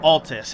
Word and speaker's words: Altus: actually see lane dell i forget how you pronounce it or like exactly what but altus it's it's altus which means like high